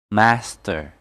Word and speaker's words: master: syllable of the word in this case the stress will be on the first the sound of a are in British is changed to air in American English master and at the end